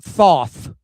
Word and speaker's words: Thoth: It's pronounced Thoth. Is it now? No. No, it's I actually had somebody along the route call it Toth. I was like, that doesn't make any sense.